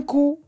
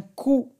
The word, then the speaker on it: coup: Un coup. Non. Non. Un coup. Le P ne se prononce pas. Un coup. Et donc, on n'entend pas le son P.